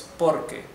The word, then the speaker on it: porque: So, see, note that this R here is the only R in the whole tongue twister that is not pronounced R. It's R. Right? So this is not porque. It's porque. Porque, okay?